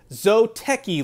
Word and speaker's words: Zōteki: out their brand new zoteki line and well just make sure you say with a long o it's got one of those macarons on top of the yo to be all fancy-like you get all the